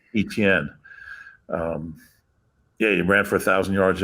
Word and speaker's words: Etienne: How do you pronounce his last name? Etienne. Etienne.